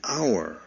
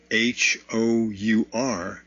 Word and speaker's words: hour: now note that our h o u r begins with a consonant but it has n before it and the reason why is because the word our h h-o-u-r is pronounced like our o-u-r and because it is